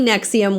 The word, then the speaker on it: NXIVM: it for me so I knew I was pronouncing it correctly so finally Nexium was born nexum was a multi-level marketing company